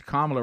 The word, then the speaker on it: Kamala: I caught that Kamala. because there was a time where we were told if we didn't say Kamala, Hey. if you didn't pronounce Kamala right, it really was showing that deep down